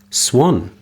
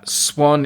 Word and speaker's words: Swann: us out is swan swan brackets pronounced like the bird oh right but is spelt like the bird with two ends not one uh swann is from france from